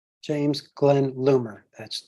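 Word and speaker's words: Loomer: If you'll state your name and spell it. James Glenn Lumer.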